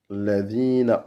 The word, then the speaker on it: الذين: Et on finit par un A. Ladina.